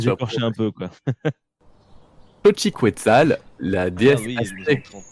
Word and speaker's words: Xochiquetzal: Xochiquetzal, la déesse Ah oui, aztèque.